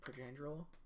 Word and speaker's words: Pietrangelo: So, Alex Pietrangelo, I totally just butchered his name. You said it completely right. I did. Pietrangelo.